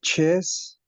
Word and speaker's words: chaise: La, la chaise sur laquelle je suis assise est inconfortable. Très bien. Atención a la pronunciación. Chaise. La che no existe, sino che. La chaise. Como los argentinos. Che, boludo. Che.